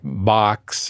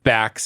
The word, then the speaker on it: Bax: Because everyone's like Box or Bax, as we learned is the correct way to say it.